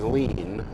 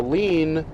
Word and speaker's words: lien: will treat on a lean basis okay a lean is uh it's not spelled like lean on the wall or lean on the desk it's spelled n l-i-e-n it's a legal word